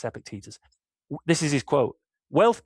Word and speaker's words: Epictetus: Epictetus, that's how you say it. I got corrected by Andy Hart once. I used to say Epictetus, but it's Epictetus.